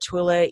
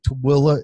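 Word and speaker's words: Tooele: So I have it listed under Twila EVPs. Okay, Twila is a place in Utah. And it's spelled now T-O-O.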